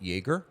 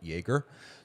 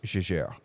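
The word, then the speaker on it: Jaeger: So his name was German but he considered himself French. So it was Jajer.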